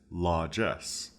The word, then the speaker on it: largesse: Our fourth and final word is largesse. Largesse. It's spelled L-A-R, lar, G-E-S-S, Jess, largesse.